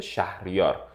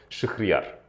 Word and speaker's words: شهریار: Вот правильное произношение это Шахрияр. Но русские меня называют Шахрияр.